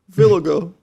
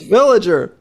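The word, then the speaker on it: Villiger: Villago. Villago. It's like it's Villager. Villager? Villager. Well, it's definitely Villager.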